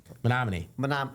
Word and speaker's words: Menominee: Yeah, Menominee.